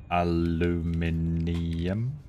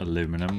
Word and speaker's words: aluminium: mispronunciation of aluminium. Now you've had too much to drink. As opposed to aluminum, which doesn't have enough letters in.